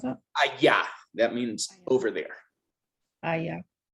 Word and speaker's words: allá: And that word aya, how do you pronounce that? Allá, that means over there.